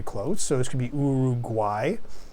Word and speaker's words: Uruguay: could be urug guay that's really how we pronounce it because when we say this word we pronounce these first two U's as U and the third U is pronounced as a W as a w w